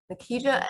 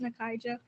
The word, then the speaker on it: Nakaija: Nikija, I hope I said your name right. It's pronounced Nakaija.